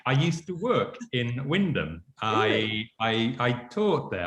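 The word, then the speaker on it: Wymondham: enjoy it and and you say win them as if you could even spell it i know well i did spend a few weeks saying why london but um i i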